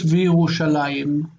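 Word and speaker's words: וִירוּשָׁלַיִם: This one is basically one syllable, and that is a diphthong. Ai. But we write it with the yod nowadays. V'Yerushalayim.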